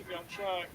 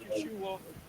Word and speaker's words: Yahawashi: the words ofah bahash yahawashi correct which is not Yeshua not Jesus it's yahawashi yahwah most God's